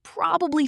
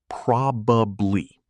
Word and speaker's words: probably: In formal speech, you say probably. 3 syllables, clean. But in casual, fast conversation, native speakers almost always compress it. It becomes probably, or even probably. It just slides together.